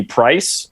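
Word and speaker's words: Preiss: had shitty parents so my last name used to be price p-r-e-i-s-s okay for what i think was like a german pronunciation or something and my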